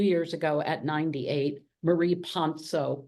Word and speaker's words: Ponsot: ago at 98 Marie Pono p o NS o t it is a French name but she herself pronounced it in New York ponet so she said people